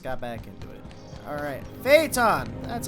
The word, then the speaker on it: Phaeton: Phaeton! That's how you pronounce it.